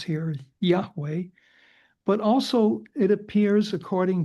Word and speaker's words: Yahweh: the God of Israel whose name we will pronounce here Yahweh but also it appears according to this analysis in several particular places.